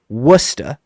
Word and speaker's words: Worcester: I'm pretty sure he's from wora wora Massachusetts there's an r in there you would never be able to spell it uh Worcester Massachusetts also I am